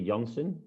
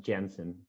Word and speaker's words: Jansen: Yeah, in Dutch you will say Jansen. Jansen, that's So what I thought. the thing you said was pretty good. Pretty good. Yeah, but in English, to be fair, it's always pronounced Jansen.